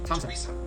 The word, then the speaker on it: Thompson: Although these next words and names are spelled with a TH, they are pronounced as if they were spelled with a normal T. T. Like that. And these words are Thomas, Thomas, Thompson, Thompson, Teresa, Thailand, Thames, Esther,